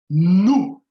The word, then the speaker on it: nous: So here we have nous, nous, nous. So as you can see, there is an S here, but we will not sound the S. So this S will be silent.